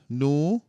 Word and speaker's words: nu: Then, look at the nu. Right? That's an N, but hey, look like a V. It's not a V though. It's an N. That's a nu.